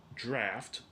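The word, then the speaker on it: draught: out into the draft the word draft spelled d-r-a-u-g-h-t looks like it's spelled um drought and it's an Old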